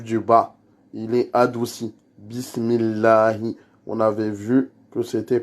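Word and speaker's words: بسم الله: Et après, on redescend avec le hi, qui est le ha dans la profondeur de la gorge, qui fait trembler la poitrine en même temps qu'on prononce. Allahi, c'est pas le ha de Alhamdulillah.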